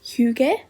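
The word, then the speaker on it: hygge: It's pronounced hug.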